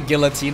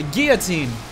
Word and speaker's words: guillotine: Not a guillotine, a guillotine! That's how you pronounce it properly.